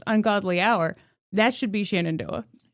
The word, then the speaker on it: Shenandoah: s h e n a n d o a h Oh. Shenandoah. Okay, you know what? pronounce it as Shendo.